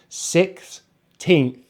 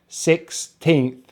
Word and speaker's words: sixteenth: And again, to stress on the second syllable. So we have 16th, 16th, 16th, 16th.